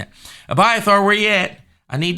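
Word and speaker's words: Abiathar: cut by a third David did not say Avatar where you at byathore that's his name I'm sorry it was mispronouncing it abyath are where you at I need that ephod uh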